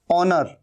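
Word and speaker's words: honour: है ऑनेस्ट मतलब ईमानदार ओनर यह भी हा यहां पर साइलेंट है ओनर का मतलब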